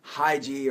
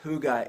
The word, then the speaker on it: hygge: hygge it looks like haiji or Heidi if you're in the West the Western American in English sort of language but it is pronounced who got it is a Scandinavian word a danish word that is kind of